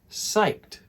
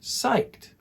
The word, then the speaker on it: psyched: like this site and notice that the sound at the end is a t not an ed psyched try saying it psyched all right this means